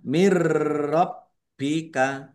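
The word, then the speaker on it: مِن رَّبِّكَ: Nun sukun bertemu dengan huruf ro. Bacaan idgham bila ghunah. Masuk dengan tidak mendengung. Maksudnya langsung masuk ke huruf ro ya. Nun sukunnya tidak dibaca tetapi tetapi tidak mendengung. Mirbika bnya dibaca dobel. Ya, ditekan dan ditahan biar tampak dobelnya. Mirbika wa kufro ya.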